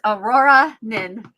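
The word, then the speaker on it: Auroranin: Um, it is Aurora Nin and it's spelled incorrectly.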